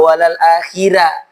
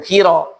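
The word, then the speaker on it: وَلَلْآخِرَةُ: Ayat keempat surah Duha, walal akhirah, bukan khira, tapi walal akhirah.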